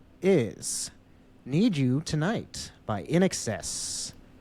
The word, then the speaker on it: INXS: Number 2 is Need You Tonight by In Excess, a band that I remember hearing referred to at a county fair as INXS. It's spelled out like that.